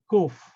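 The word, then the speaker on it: ק: Kof. Kof is an interesting letter, but the Yemenites know how to pronounce it. It's, let me say the word Kadosh. It's something between Kof, Kaf, and Gimel.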